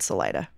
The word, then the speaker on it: Salida: too Salida is next I've never heard anyone say Salita which is their other option I this one threw me a little bit as well because I have never heard anything but Salida yeah Salida is the one yeah that's a 93 percenter there's there's consensus here